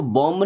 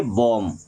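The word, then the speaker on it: bomb: बी ओ एम बी इसको बॉम्ब नहीं पढ़ना है। क्या पढ़ेंगे? बॉम्ब। क्या पढ़ेंगे?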